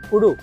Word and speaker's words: kudu: How it's pronounced? Kudu. It's Kudu.